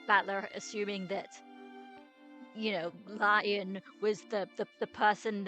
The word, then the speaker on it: Lion: you I'm sure a lion lion who the heck are Who? It's written as that, but pronounce Le Okay, thank you. Pronounce Leon.